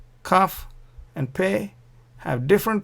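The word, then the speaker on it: כ: If there is no dot here, it is pronounced kha, and when there is a dot, you pronounce ka.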